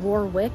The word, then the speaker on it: Warwick: Castle thank you yes it is spelled Warwick but it is Warwick Castle but that's not what